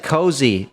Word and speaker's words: Cozi: Like I said, Cozy, it's spelled Cozi.